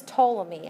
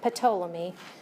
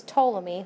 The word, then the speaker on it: Ptolemy: You pronounce this Ptolemy. I know it looks like Ptolemy, but the P is silent. So this is Ptolemy, the Ptolemaic model, Ptolemy.